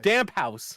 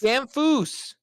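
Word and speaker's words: Damphousse: I always thought it was Damp House too. It is. Damfoose. Where's the F? I was just doing it phonetically. There's no. It's Damp House. It's German. I never said I was a smart man. It is French. 100%. And it's Damfoose.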